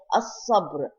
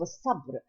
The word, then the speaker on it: الصبر: الصبر والصلاة. Here we do not pronounce the lam of الصبر, and we do not pronounce the lam of الصلاة.